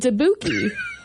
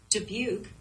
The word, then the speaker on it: Dubuque: for a while, and it said Dabuki. And I thought that was wild. Maybe we've been mispronouncing it the entire time. Julian Dabuki. Well, my Siri says it right here. Hang on. Dubuque. She knows it.